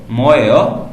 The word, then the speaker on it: 뭐예요: यहाँ पर मैं ट्रैक प्ले नहीं कर सकता, यहाँ पर मैं आपको डायरेक्ट खुद ही प्रोनाउंसिएशन करके दिखाऊंगा। First one इज मोएयो। मोएयो, अब क्योंकि एंड पे क्वेश्चन मार्क है तो हम उसको थोड़ा सा लेके जाएंगे, मोएयो।